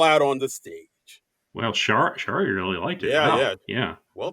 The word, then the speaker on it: Shari: Shari like Starry. That's why she chose that handle.